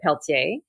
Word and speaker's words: Pelletier: what's your name yeah so Peltier uh is my name you can blame my French Canadian husband for the pronunciation of of that one that gets butchered most